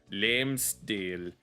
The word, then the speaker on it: Længstil: This, I didn't realize that there was a silent G here. Længstil. Because in some of the Scandinavian languages, if the letter G is next to a front vowel, then it becomes a y.